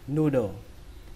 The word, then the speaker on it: noodle: Nu, noodle, noodle, noodle. Từ này có nghĩa là đầu, noodle. Từ thứ hai, cách đọc của nó gần tương tự cách viết.